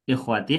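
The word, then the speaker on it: إخوتي: Kalau ikhwati hamzahnya itu letaknya di bawah alif Bu kalau dibacanya i. Kalau di hamzahnya ada di atas alif bacanya itu bukan kasrah akhawati.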